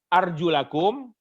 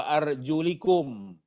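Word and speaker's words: أرجلكم: Binasbi arjulakum, ada yang membacanya arjulakum, wa jarrihi, ada juga yang membacanya wa arjulikum. Apa hikmah?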